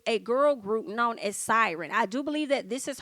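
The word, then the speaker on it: Siryn: on them okay and it's siren as in PS i r y n I believe that's how you say it but they can sing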